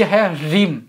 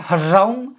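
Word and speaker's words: ह्रीं: गोपन मंत्र में बीज है रिम हरिम हेच are double E एम हरिम हरिम नहीं और सिर्फ रिम नहीं ह का साइलेंट होगा जो थोड़ा बहुत आपको सुनाई देगा हरिम अब इसको क्या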